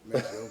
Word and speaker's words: Maceo: And sometimes I wonder did you say Maceo because it kind of rhyme with blow, Maceo blow.